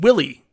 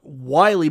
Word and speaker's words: Wiley: uh hobby hands ersey wiley is pronounced like silly rc willy hey there it is uh local on company staring in my state yeah like i call it wiley but it is willy hey my 75 1942